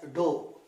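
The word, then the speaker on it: ∂: It is not d. Spell as dou.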